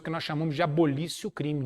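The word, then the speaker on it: abolitio criminis: que nós chamamos de abolicio o crime nisso que se escreve abolitio crimes é revogação de um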